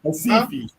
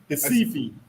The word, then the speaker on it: Recife: Recife. Recife. Recife. Yeah, it's Recife in English, but you know the Brazilians don't pronounce the R's.